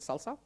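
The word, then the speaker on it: SLSA: framework called Salsa um there is an a missing but we still pronounce it salsa uh and it stands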